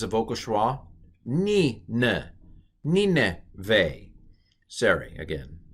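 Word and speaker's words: נִינְוֵה: So this is ni, neve, ni neve, ni neve. The accents on the ni.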